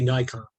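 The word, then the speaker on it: Naikan: naked nikon nikon no the japanese would be nikon it is nikon thank you oh yes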